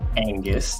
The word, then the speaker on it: Angus: my name is last name is Angus just like the cow spelled the same way of the it's